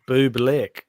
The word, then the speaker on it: Bublik: And Vance saying it's pronounced Bublik.